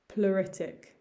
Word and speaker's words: pleuritic: we have here pluritic pluritic again ignore some of the letters ignore that e and just think of the u pluritic onset onset this